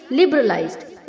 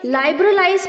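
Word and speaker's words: liberalize: होता है levies लेविंगटन लिबरलाइज्ड इसे हमें लाइबर इज नहीं बोलना है बच्चों लिबरलाइज okay लिबरलाइज लिबरलाइज्ड लिबरलाइज्ड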